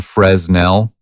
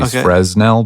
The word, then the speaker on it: Fresnel: It's spelled Fresnell. Literally Fresnell, but it's pronounced Fresnel.